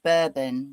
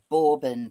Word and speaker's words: bourbon: So we say bourbon whiskey but borbin biscuits but they're both spelled exactly the same.